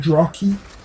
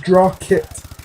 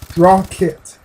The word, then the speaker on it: Drawkit: I said Drawkeet, as in parakeet, like I wanted to pronounce his name as parakeet.